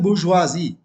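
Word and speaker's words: bourgeoisie: और इसको पढ़ते हैं बुर्जुआजी।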